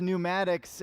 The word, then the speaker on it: pneumatics: impressive but anyway uh the word is pneumatics uh I'm pronouncing it with the English uh pronunciation annunciation pronounce that how do you say that uh how speak words in English that's what I'm doing okay versus the Greek uh which would have the P but anyway the unseen